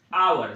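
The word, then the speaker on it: hour: एक से लिखा हर्स हर्स को प्रोनाउंस करोगे तो ये ह से लिखते हो और आवर को अ से लिखते हो ध्यान से देखोगे ना तो हर्ष कंसोनेंट लेटर से शुरू तो हुआ साउंड भी कंसोनेंट दिया साउंड को प्राथमिकता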